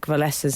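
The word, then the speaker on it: Wałęsa: pronunciation some pronunciation here there is no K in Le vesa's name I was there no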